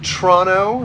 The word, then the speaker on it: Toronto: up there in Toronto Toronto as I believe it's pronounced Toronto that first o is silent um Kinley says hi